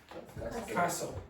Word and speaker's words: castle: So, very often you will see words in English that end in t. Don't pronounce the t and then change that. Do you know another word? Yeah. Castle. Don't pronounce the t and then change the order of the e.